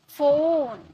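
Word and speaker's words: phone: उसे प्रोनाउंस करते हैं हम फ में। फोन फोटो ओके जो हमारा लिप है वो राउंड हो जाएगा। तो इस तरह से पी का उच्चारण प में तो किया जाता है लेकिन पीएच एक साथ आता है तो उसे फ में प्रोनाउंस करते हैं।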